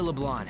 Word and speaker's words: Leblanc: talk more over there Leblanc it bothers me I know that's probably the the correct way of pronouncing it but it bothered me so much but they don't pronounce the C it just sounds like